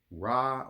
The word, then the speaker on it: Ra: Ra or Re, however you want to pronounce it.